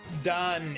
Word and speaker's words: Dan: is when like because done is the Israeli pronunciation of Dan that's just how they say is there but like